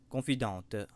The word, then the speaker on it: confidente: et s'il vous plaît confidente c'est un terme français et l'on prononce la confidente donc les côtes sont